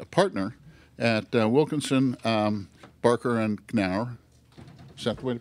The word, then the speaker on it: Knauer: Russ is a partner at Wilkinson, Barker, and Knauer. Is that the way to pronounce it?